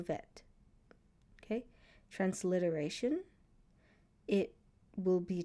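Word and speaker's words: בֵית: You should know the name of the letter bet. When it makes a B sound, vet. When it makes a V sound, the sound of the letters, you should know it makes a B for bet. V for vet.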